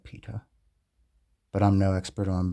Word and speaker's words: pitta: Here we have Steers Pitta. I've heard it be pronounced both pa and pitta, but for this video we'll call it pitha, but I'm no expert on birds, so feel free to correct me.